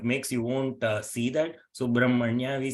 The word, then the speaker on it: Subrahmanya: So though it is written as Brahma, so we need to pronounce it as Brahma. Okay, it is Subrahmanya.